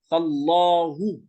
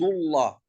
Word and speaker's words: الله: يعني لم لفظ الجلالة إذا سبقت بفتحة أو ضمة فخمت، ولكن إذا سبقت بكسرة رققت، مثل كلمة بسم الله، من عند الله، قل اللهم، هكذا. إذن اللام لفظ الجلالة تتبع حركة ما قبلها. إذا كانت الحركة فتحة أو ضمة لام لفظ الجلالة فخمت، وإذا كانت الحركة كسرة فلام لفظ الجلالة مرققة.